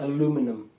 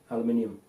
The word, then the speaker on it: aluminium: a really weird accent aluminum aluminum yeah well how do you say it aluminium yeah i would if